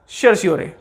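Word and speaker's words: certiorari: Fourth writ is सर्श्योरे। सर्श्योरे को समझने के लिए, द फोर्थ रिट इज सर्श्योरे।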